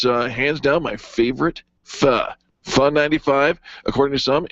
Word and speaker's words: pho: not faux. It's pho.